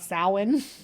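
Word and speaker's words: Samhain: the north and that day was yeah he said Celtic uh called the day of Sam and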